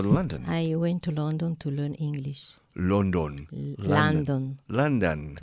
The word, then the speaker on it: London: London I went to London to learn English London London London to London London the first syllable and the second syllable are pronounced identically la la London London